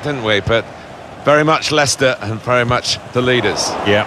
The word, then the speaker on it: Leicester: lot of that don't we but very much Lester very much the leaders yeah I don't think